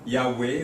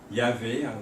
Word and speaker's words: Yahweh: Et généralement, on pense que le nom doit être prononcé en y ajoutant 2 voyelles, la voyelle A et E. ce qui fait Yahweh ou Yahvé. Il y en a qui prononcent le W comme un V, Yahvé.